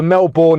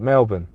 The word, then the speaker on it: Melbourne: from um Chase it it's more like Melbourne Melbourne okay let let me say it like the Australian said Melbourne okay uh nerb says